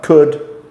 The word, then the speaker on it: could: a few words so some examples are could should would so the um the L becomes silent um on those words we will look at